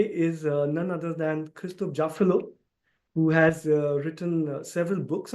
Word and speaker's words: Jaffrelot: So that's Christophe JAFFRELOT and not JAFFRELOT, because in French there is a simple rule which says that after the consonant, if there is no vowel, then you don't pronounce it. So it's Christophe JAFFRELOT.